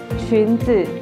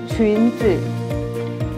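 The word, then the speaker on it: 裙子: Qunzi. Qunzi. U-nya ini dibaca seperti yu. Yu. U yang ada yang di atasnya ada titik dua. Jadi bacanya yu. Jadi bacanya qunzi.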